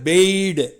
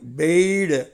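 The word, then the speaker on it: bade: பிடு past டென்ஸில் பாருங்கள், பெய்டு. எப்படி வச்சுருக்கணும்? பெய்டு. அந்த பே பாருங்கள், அம்புக்குறியோடு வந்திருக்கு, பெய்டு.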